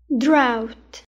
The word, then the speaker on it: drought: Drought. جي والإتش لا تلفظ. Drought.